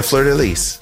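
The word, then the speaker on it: fleur-de-lis: Fleur de lis? Yeah, Fleur de lis.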